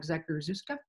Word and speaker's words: Zakrzewska: Yes, that's how you pronounce that name that looks like Zakrzewska.